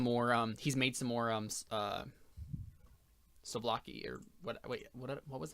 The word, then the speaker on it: souvlaki: So he has a plate of it in his hands, and he says, Slovakia. But is it Czech? Yeah. It's Souvlaki. I said it wrong. It's not Slovakia, it's Souvlaki.